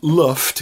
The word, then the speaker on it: Lyft: Lyft, or as I prefer to call them, Luft, because that's what it looks like if you read Welsh. The letter Y is pronounced of course. It's just like Luft to me.